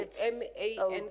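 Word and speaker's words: Mance: uh this um secretary it is always recorded as man and it must be fixed in the papers M okay honorable Deputy speaker that's how my name is pronounced and that's how it's written m a n c e man thank you honorable man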